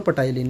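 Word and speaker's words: ptyalin: Human saliva contain the enzyme known as द टाइलिन, टाइलिन या बोलो पटाइलिन, most important है, जो आप लोगों का स्टार्च जो होता है ना उसके डाइजेशन में हेल्प करता है।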